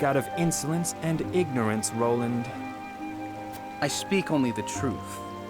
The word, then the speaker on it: Roland: of uh i think ronald right ruland ronald so it's roland ronald is it ronald it's roland can we say his